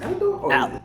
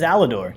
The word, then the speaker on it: Alidor: Allor It is Allidor. Yeah, I got it right. People get my name wrong.